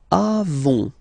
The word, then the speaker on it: avons: Okay, then nous avons, final s not pronounced, avons.